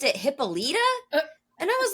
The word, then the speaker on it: Hippolyta: But the video that we used pronounced it Hippolyta, and I was like, "What?"